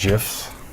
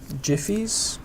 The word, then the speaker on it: GIF: that you want right there I believe they're pronounced jfy gifs I don't think so Jiffy no it's a gif cuz it's graphical oh